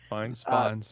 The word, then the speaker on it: Fiennes: Brolin, Tilda Swinton, Ralph Fiennes, or however you pronounce his name. I always forget. Fiennes. Fine, Yeah.